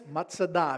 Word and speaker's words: Masada: to a place called Masada also known as matada if you want to pronounce it in the Hebrew Mada is sobering it